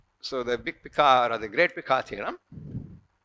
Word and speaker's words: Picard: same people of course you don't pronounce the d at all the name the icard